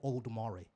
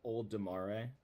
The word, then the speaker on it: Olodumare: Olodumare exists, I expect black people to exist. I'm a black person, therefore Olodumare.